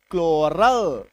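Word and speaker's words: chloral: एल क्लोरोफिल सी एच एल ओ आर एल क्लोरल है ना तो बड़े से बड़ा शब्द बड़े से बड़ा स्पेलिंग है ना?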